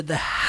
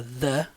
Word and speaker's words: the: The wolf came to the house made of straw. Olha só que interessante, gente. Essa palavrinha aqui, ó. The, ok? Som do TH, the.